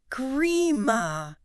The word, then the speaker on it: Green Park: Grima. With an M. Why? Because the N sound at the end of green comes right before the P sound in park.